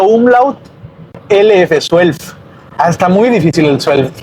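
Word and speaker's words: zwölf: y de escribir, porque esta combinación de la Z con la W no la tenemos en español. Se escribe con Z, luego sigue la W, luego sigue la O, suelf, la O, pero con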